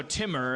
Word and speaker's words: Timur: on pronounce it foreign but if we just if we're just in a rush we can just go Timmer and it's fine right Timmer like like if if